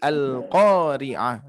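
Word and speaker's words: القارعة: Ya, contoh seperti al-qari'ah. Nah, qa-nya harus dibaca panjang 2 harokat.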